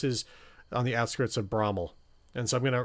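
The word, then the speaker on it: Bramwell: Bromwell. Sorry, Brommel. I used to call it Bromwell, but somebody who's local to the area tells me that the pronunciation is actually Brommel, which is a town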